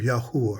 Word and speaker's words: Yahweh: name of the Creator so it's the book of Yahweh right because we know the W is very very suspect and it's not supposed